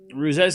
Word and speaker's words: Ruse: See, it's Ruse.